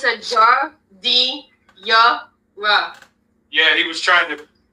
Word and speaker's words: giardiniera: It's a Jardinara. Yeah, he was trying to phonetically explain to us how it's supposed to be pronounced.